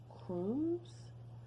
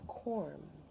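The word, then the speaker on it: corm: out soil and pull out what they call Chrome's I'm gonna go ahead and look and make sure I pronounced that correctly but they're basically like a network no no no I was wrong they're called quorum there are a bulb like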